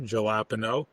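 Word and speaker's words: jalapeño: Well, for the record, it's pronounced gelapo.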